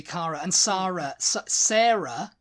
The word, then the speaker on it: Sara: Yeah, it's pronounced the same way whether it has an H on the end.